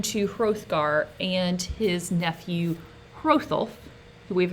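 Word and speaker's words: Hrothulf: hgar and his nephew holf we've not um we haven't seen that name yet but holf is spelled HR o th h u LF and it's going to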